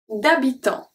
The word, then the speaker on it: d'habitant: D'habitant. D'habitant. So here, the H, I told you, H never pronounce. D'habitant, so we have the T and the S, silent.